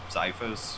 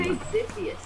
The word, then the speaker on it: Xiphos: is taking him to Xiphos or however you pronounce his name. I say Ziphius.